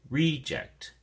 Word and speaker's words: reject: But the noun form, the emphasis or stress is on the first syllable, and so we say reject, reject.